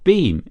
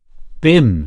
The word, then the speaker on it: Bim: "Your beam? Is that how you pronounce it?" Bim said the other B I M Christian name Cherry Cherry